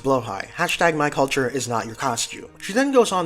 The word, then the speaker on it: Blåhaj: Also, it's pronounced Blåhaj.